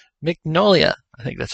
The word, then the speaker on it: Mignola: Mignola, I think that's how you say it.